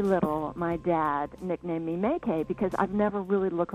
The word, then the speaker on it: MayCay: But it's not me, so dad named me MayCay.